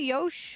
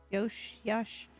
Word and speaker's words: Yash: Do you say Yosh or Yash, or how do you say your name, by the way? I don't know if I want to do feet. Maybe use this good points. Yash? Okay. Yash.